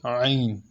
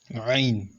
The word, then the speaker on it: ع: We call it Ain. Ain. Ain. Ain. So when you're pronouncing it, make sure that your throat is the one pronouncing it.